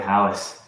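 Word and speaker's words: Halys: Alice who who quent Alice oh halice sorry halis yeah again H is silent Jack H is silent Alice yeah I mean it's french so H is silent Alis something like that yeah I mean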